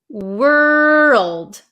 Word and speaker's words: world: we have the word world world world so make sure you pronounce that L were world world world